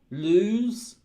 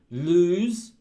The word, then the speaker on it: lose: pants were B loose now listen to the pronunciation between a and B um lose lose loose so this one's longer it's like 1-0 but it's longer lose this one's got two o's but it's shorter English loose loose yeah that's the